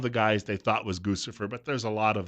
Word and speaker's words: Guccifer: guys they thought was guccifer but there's a lot of them it's a name of a guy rhymes with Lucifer but you know since